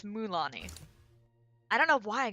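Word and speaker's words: Mualani: I used to say Mululani. That's not how you say it at all. It's Mulani.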